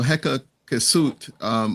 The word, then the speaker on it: Hyksos: So I would say that, so Heka Kesut, which was more like kind of like the original pronunciation, it means foreign rulers. And then it was Manetho who started saying Hyksos.